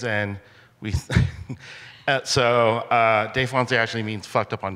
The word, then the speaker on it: Défoncé: Yeah, it's Défoncé.